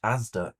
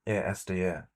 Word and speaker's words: ASDA: Really, because in last night's video, he pronounced ASDA, A-S-D-A. Jimmy messaged again going, you know he uploaded just after you did, really? And he pronounced ASDA, A-S-D-A. With big supermarkets like ASDA and Aldi.